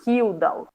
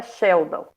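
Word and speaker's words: Kjeldahl: ouvir diferentes pronúncias daí tem gente que vai chamar kildall mas o correto é Sheldon Sheldon método Sheldon conhecidíssimo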